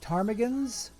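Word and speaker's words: ptarmigans: manager there's the Yellowknife tarmigans with a silent P under Canadian flag six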